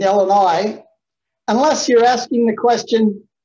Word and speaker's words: Illinois: illinois first of all the s is silent in illinois unless you're asking the